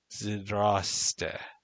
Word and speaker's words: Здрасте: ZDR smashed together with no vowels. Zoroastra. Ah. Te. Ah. Ste. Say this in your head version. Zdraste. But faster and flatter.